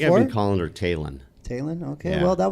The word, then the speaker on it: Taylin: So it's Taylin. It's Taylin. Okay. What were you saying I think before? I've been calling her Taylin.